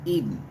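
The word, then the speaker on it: Idan: trying to figure out ida n is pronounced eden and well because where he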